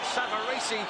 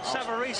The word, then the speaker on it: Savarese: comeback trail against lou savaresi as we will call him the italians behind us are pronouncing his separation that'll do for me frank savarese i believe is the american pronunciation but we won't worry